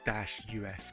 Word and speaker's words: Deus: Well, it should be. The title should be actually like Day-US, but I digress.